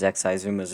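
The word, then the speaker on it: Xisuma: minecraft that would explain why no one questions xizuma's ability to shape-shift that's how you pronounce that by the way it's exciting can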